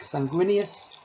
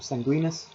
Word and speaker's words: Sanguinius: They first were led by the Primarch Sanguinius, or Sanguinus, whichever way you want to pronounce it.